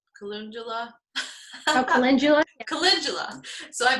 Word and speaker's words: calendula: Oh, calendula. Oh, calendula. Yeah. Or calendula.